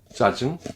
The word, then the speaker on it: 짜증: Le sang Jieu, tendu, aucun souffle, tension, comme 짜증, l'agacement.